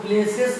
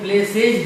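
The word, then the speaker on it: places: आप इसको प्लेसेस मत पढ़िएगा कभी, ये प्लेसेज है।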